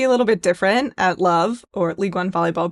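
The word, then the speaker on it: LOVB: Yeah, we aim to be a little bit different at Love or League One volleyball pronounced love.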